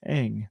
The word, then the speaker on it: Ng: By the way, Gundy, you missed it, but the Chinese last name NG is pronounced Eng. There's an invisible A, Eng.